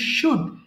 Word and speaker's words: should: তারপরে তোমরা পড়বা হ্যাঁ এটাকে অনেকে ভুল করে শুড উচ্চারণ করে শুড না কিন্তু হ্যাঁ এটা simply সুড এস এইচ ও ইউ